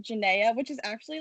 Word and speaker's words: Janaia: correctly oh yeah it's janae it rhymes with zendaya yeah you're actually right